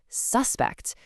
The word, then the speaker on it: suspect: Should a teacher treat a misbehaving student like a suspect? You can really hear that punch on the first part, can't you? Suspect. That emphasis clearly points to a person.